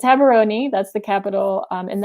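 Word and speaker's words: Gaborone: so it's it's pronounced haberoni because the g is is like a h um and in the airport they always say oh you're going to gabaroon but yes it's haberoni that's the capital um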